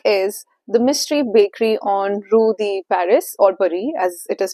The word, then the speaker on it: Rue de Paris: The book is the mystery bakery on Rudy Paris or Buri as it is pronounced as.